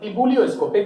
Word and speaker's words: ebullioscopic: Now this, like, try to pronounce it like this. It is called ebullioscopic, but in order to remember it, you just remember like this: ebullioscopic constant. Ebullioscopic constant, just like you are feeling vomiting something.